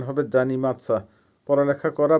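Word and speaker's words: заниматься: করা ইংলিশে হবে রিমেম্বার উচ্চারণ হবে পৌমনিচ ভাব জানি মাদসা জানি মাদার অর্থ হবে অধ্যয়ন করা বা স্টাডি করা পড়ালেখা করা জানি মাদসা স্টাডি স্টাডি করা জানি মাদসা আবার বলছি উচ্চারণ হবে জানি মাদসা পড়ালেখা করা বা অধ্যয়ন করা বা স্টাডি করা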